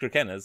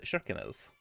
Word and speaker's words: Kirkenes: Actually, a fun fact: this isn't pronounced Turkenas. It's actually from what I understand, it's actually pronounced Shirkenas. It's Norwegian apparently.